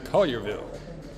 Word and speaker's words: Collierville: I've been here in Ma in Memphis for almost four years and I've learned how to pronounce it. Collierville.